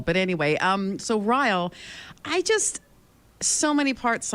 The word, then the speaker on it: Ryle: reading, you know, I I actually pronounced his name as Riley in my head, and I don't know why because I didn't like Riyle. But anyway, um so Riyle, I just so many